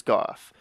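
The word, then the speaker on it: Gough: gonna be talking to I think his name is goth even though it's not um spelled with an F it's got the uh F sound to it don't ask me I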